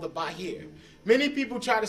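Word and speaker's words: Bahir: with the discovery of a book called The Bahar many people try to say the Zohar is the first book Zohar is not the first book the first book is a book called The bah here you spell it b a h i r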